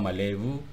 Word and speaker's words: malebu: Tertulis malebu tapi dibaca atau diucapkan malewu.